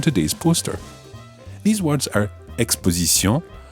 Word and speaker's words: exposition: Try to stick to the French pronunciation and say exposition and not exposition, retransmission and not retransmission, and animation and not animation.